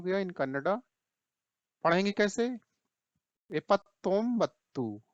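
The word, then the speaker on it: ಎಪ್ಪತ್ತೊಂಬತ್ತು: एपत्तोम्बत्तू, ये देखिए यहाँ स्पेलिंग देखिए आप, ठीक है, कैसे पढ़ेंगे?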